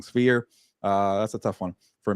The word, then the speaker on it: Sphere: Berlanga, Canelo, UFC's Spear or Sphere. I keep saying it wrong. Sphere.